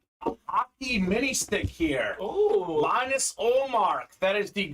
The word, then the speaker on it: Linus: what did I say Bob leanus it's pronounced Linus I apologize if I said the wrong thing lean uh Linus o'mark one of the